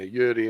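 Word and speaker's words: Juri: Yeah, Yuri and Uni, even though they're spelt with J's. It's showtime. They are pronounced Yuri and Uni.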